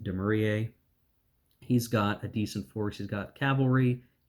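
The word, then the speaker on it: Dumouriez: So there are certainly some main armies, like I believe that's pronounced Demurier.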